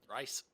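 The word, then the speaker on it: Rhys: R Y R Y R H YS is R. R. I don't know how to pronounce that. Rice. I think it's Rice, but I mean that's what I Zavon.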